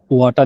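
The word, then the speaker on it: は: হা, হাটাকে আমরা উচ্চারণ করব ওয়া। কেন? কারণ হাটা যখন পার্টিকেল হিসেবে ব্যবহার হবে, তখন এটার উচ্চারণ হয়ে যাবে ওয়া এর মতো।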